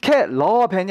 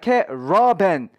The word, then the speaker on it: caravan: caravan이 아니라 caravan, raw 발음을 그렇죠? 하시면 도움이 될 거라는 거죠. 물론 이제 비읍이 아니라 V 발음으로 해줘야 되는 건 잊지 마세요. 제가 뭐 어쩔 수 없이